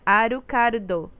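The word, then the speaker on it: アルカード: Em japonês se pronuncia Arukardo.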